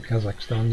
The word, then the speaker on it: Kazakhstan: Rab was asking about, and if I pronounce it wrong, I'm sorry, Kazakhstan. Yeah, that's right, Kazakhstan, yeah.